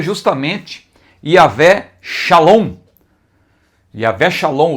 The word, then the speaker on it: Shalom: testamento a palavra paz aí está no hebraico Shalom e a transliteração para você saber pronunciar em português Shalom Todos sabem não é